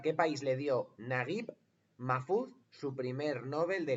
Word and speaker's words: Naguib Mahfouz: ¿A qué país le dio Naguib Mahfouz su primer Nobel de literatura? Vale, ¿cómo se escribe? Pues N-A-G-U-I-B, Naguib, y luego Mahfouz es M-A-H-F-U-Z, Mahfouz.